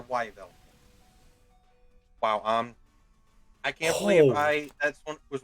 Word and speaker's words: Yveltal: Oh wait, Veltal. Wow, how have I never seen that? Okay, well, I stand corrected there. Why Yveltal or Yveltal?